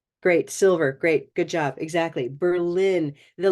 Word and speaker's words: Berlin: So the rise in tone tells me your mind thinks it's first syllable, but your voice tells me it's second syllable. Okay. Berlin. Berlin. But there is a very strong purple sound in that first syllable.